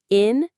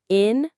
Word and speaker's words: innovative: Four syllables. Innovative. Again, innovative. For this word, the stress is right at the beginning on innovative.